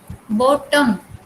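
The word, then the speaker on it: bottom: जैसे बॉटम. ठीक है, बॉटम, इसमें वावल को प्रोनाउंस नहीं किया गया ना, बॉटम. इसमें बिल्कुल हल्की सी साउंड आती है, बॉटम, सैडन, लूजन.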